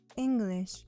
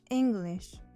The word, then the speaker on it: English: English is a two-syllable word, and the first syllable is stressed, meaning it's pronounced louder, longer, and often at higher pitch than the rest of the word. So, it's English, not English.